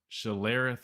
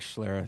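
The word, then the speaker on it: Schlereth: Mark Shalerith. I always butcher. Chase. Do you have better pronunciation on the last name, man? I think it's Mark Schler. You hit it right.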